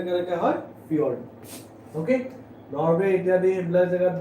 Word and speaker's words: fjord: J আছে কিন্তু pronunciation টা কেনেকৈ হয়, fjord.